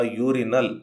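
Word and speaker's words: urinal: ಆದರೆ ಹಾಗೆ ಬಳಸಿದರೆ ತಪ್ಪಾಗ್ತದೆ ಯಾಕಂದ್ರೆ ಯೂರಿನಲ್ ಅನ್ನುವಂತದ್ದು ಯು ಅಕ್ಷರದಿಂದ ಶುರುವಾದರೂ ಕೂಡ ವವೆಲ್ ನಿಂದ ಶುರುವಾದರೂ ಕೂಡ ಧ್ವನಿ ಕಾನ್ಸನೆಂಟ್ ನದ್ದು ಹಾಗಾಗಿ ಇದರ ಜೊತೆ ಎ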